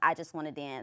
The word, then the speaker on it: IJUZWANNADANZ: It's IJUZWANNADANZ. It's kind of long, but it's pronounced I Just Want to Dance.